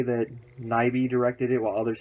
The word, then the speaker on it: Nyby: Now the film is directed by Christian Nyby, or Nyby, however, I think it's Nyby. N-Y-B-Y. You tell me how it's pronounced. Nyby sounds like a new pronunciation.